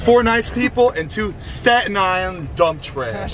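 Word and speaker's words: Staten Island: nice people and two statan dump trash don't pronounce the tea it's St Island got a black tea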